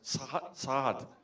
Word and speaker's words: Saad: Is that close? Saad. There's a little thing you have to do. So Gad Saad is our next speaker.